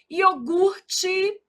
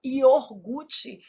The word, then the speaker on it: iogurte: Iogurte. O R é aqui, a gente às vezes desloca esse R, fala iorgute. Isso é um erro de ortoépia.